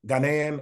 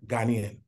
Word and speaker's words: Ghanaian: It can go either way. Ghanaian or Ghanaian.